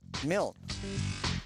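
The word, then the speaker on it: Milne: Well, kind of because January 18th is actually the birthday of the author a uh mil. It rhymes with kil.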